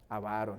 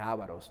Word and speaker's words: avaros: Avaros, no es ávaros, no tiene acento en la primera A. Avaros, es llana la palabra.